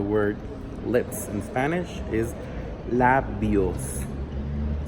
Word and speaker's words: labios: For example, the word lips in Spanish is labios. So we really do close a lot our mouth as we pronounce it.